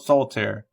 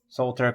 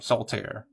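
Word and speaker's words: Soltaire: Save $10 with the promo code Sultter. Two syllables. Saltier cosplay. I'm sorry. Saltier. S O L T A I R E. Saltier.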